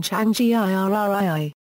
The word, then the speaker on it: Tsvangirai: about how to pronounce the name of Morgan Tsvangirai, the leader of the Movement for Democratic Change Tsvangirai in Zimbabwe. The BBC Pronunciation Unit recommended the pronunciation Changii.